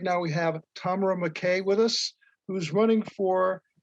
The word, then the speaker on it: McKay: My name is Tamara McKay, but it's pronounced McKay because it's Scottish, but just McKay.